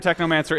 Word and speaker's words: Technomancer: man's at seven months it rhymes with my favorite book necromancer Zardo mansoor Technomancer it's cool compound words